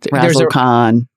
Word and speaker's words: Razzlekhan: Razzlekhan. Razzle Khan. Like Khan. Star Trek.